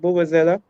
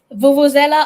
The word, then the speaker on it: vuvuzela: Is it Bubazela? Vuvuzela, I believe so. Yes, That reminds me of South Africa, right? yes. I don't think the part. The South Get Africans the will definitely. vuvuzela, get your Dutch pot,